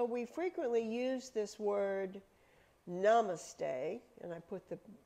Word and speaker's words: Namaste: frequently use this word Namaste and I put the pronunciation up there because I have a tendency to say it wrong the accent is on the first syllable it is namaste and